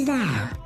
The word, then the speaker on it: Val: My name is Val. The pod you are in has been designed for total isolation. Do you get it? Val? It rhymes with Hal.